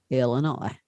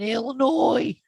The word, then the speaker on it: Illinois: Janet was born in Illinois. Yeah. Illinois. Knew I'd get that neck to snap around. Keep going. I might actually get it to pop. Okay. Anyways. Yeah, she's from Illinois. The S is silent.